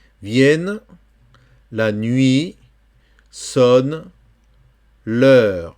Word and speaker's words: l'heure: Vienne, la nuit, sonne, l'heure. Attention, EU, c'est le E français. Ouais, c'est le E français. EU, c'est E. C'est pas EU. Non, c'est E. L'heure.